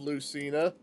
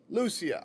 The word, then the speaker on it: Lucia: Tempest was essentially going to be playing the role of Lucina. Lucia. I was saying it wrong.